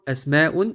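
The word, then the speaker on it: أسماء: their names notice here unlike its singular form ismun the plural form esmeun is written with hamzatul not hamzatul wassel that is why we need to pronounce the hamza at the their names are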